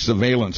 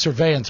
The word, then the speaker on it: surveillance: Google says government surveillance of our web searches is on the rise, and the U.S.